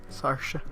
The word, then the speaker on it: Saoirse: of tea no oh Saoirse is pronounced like Sasha Sasha Saoirse Ronan those Midwestern